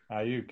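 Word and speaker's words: Aiyuk: Ayuk.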